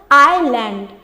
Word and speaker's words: island: 6 number में हम लोग पढ़ते, देखिए स्पेलिंग पढ़ते हैं, ISLAND, इसमें साइलेंट क्या है, एस। कैसे साइलेंट है एस, देखिए इसका प्रोनाउंसिएशन क्या होता है, आइलैंड।